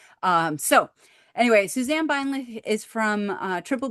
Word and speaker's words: Beinlich: So this is Suzanne Beinlich. If you, and I would say her name with the German pronunciation because it just is German and should be pronounced with the instead of a k.